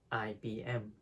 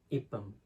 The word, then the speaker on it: IBM: So it is actually read as IBM instead of IBM because they are only initials.